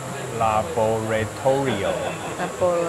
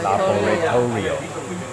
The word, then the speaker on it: Laboratorio: Laboratorio。 Laboratorio。